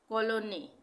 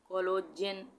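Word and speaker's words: cologne: उसके बाद सॉरी कॉलोने, इसको हम पढ़ेंगे कॉलोने, ना कि जी पढ़ेंगे इसमें, कोलोजेन, जेने ऐसे नहीं पढ़ेंगे, कोलोजेने नहीं पढ़ेंगे, कोलोने, कोलोने, ठीक है।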